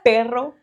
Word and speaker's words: perro: had been here that I was pronouncing dog incorrectly. I was running around telling people how sweet my farts were. Perro, pedo. Yeah, it makes pedo is like perro is like wow wow.